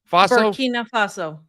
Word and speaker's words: Burkina Faso: Burkina Faso.